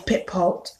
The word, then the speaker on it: Pitepalt: Then there's Pitpot, which is spelled Pitepalt, Pitpot.